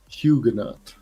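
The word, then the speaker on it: Huguenot: Hugenot. Hugenaut. Hugenot is a pronunciation.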